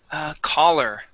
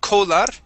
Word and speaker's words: collar: And it's pronounced exactly like if you were to be a caller on a game show. Okay, caller, like C-A-L-L-E-R and C-O-L-L-A-R are pronounced exactly the same.